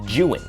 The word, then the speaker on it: Zhiyun: By the way, it's pronounced Juin.